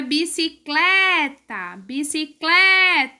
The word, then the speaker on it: bicicleta: Na palavra bicicleta, o clé é mais forte.